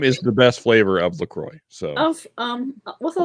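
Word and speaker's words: LaCroix: way key lime is the best flavor of lroy so of um what a lot of um it's pronounced lro um with a lot of those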